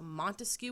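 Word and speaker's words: Montesquieu: I like to remember Montcu, which has three syllables. Montcu, and the three branches of government. So, Montescu with three syllables and the three branches of government.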